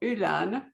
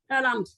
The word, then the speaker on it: Öland: And so the island in question, I'm going to wing it here, but Johanna can pronounce it better. It's called Öland. Is that close? Öland.